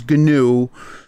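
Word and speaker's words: GNU: and look it up it started as an acronym first word is ganu so that's why we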